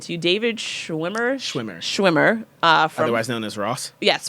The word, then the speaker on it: Schwimmer: All right, so did I pronounce his name right when I said to you? David Schwimmer? Schwimmer.